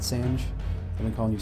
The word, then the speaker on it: Sange: sand on the disruptor apparently you do pronounce it Sange I've been calling you